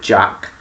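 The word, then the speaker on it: Jaq: It's about this woman called Jack. And no, not Jack spelled with J-A-C-K, it's J-A-Q. And I thought it was like Jacket or something, but it's actually short for Jacqueline.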